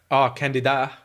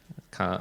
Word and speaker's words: Candide: I'm not sure how would you pronounce Candide in French, something like that. Candida. Is it like candidate? No. Candide.